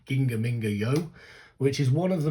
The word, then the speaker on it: GingaMingaYo: It is GingaMingaYo, because I've looked at the Hangul and that seems to be how it's said.